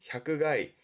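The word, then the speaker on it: 百害: 발음은 향가이 향그가이 그렇죠.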